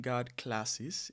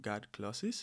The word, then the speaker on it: guard clauses: I was saying guard classes instead of guard clauses, so I apologize for that.